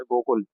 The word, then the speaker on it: गोकुल: तो इसमें गोकुला लिखा है, गोकुल प्रोनाउंस करते हैं।